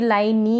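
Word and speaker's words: line: फिर है यह लाइन इसको भी लाइनी नहीं पढ़ेंगे ऐसा ही है इंग्लिश में अगर ई आएगा ना ऐसे लास्ट में तो इस तरीके से हम इ को प्रोनाउंस नहीं करते हैं लाइन लाइन का मतलब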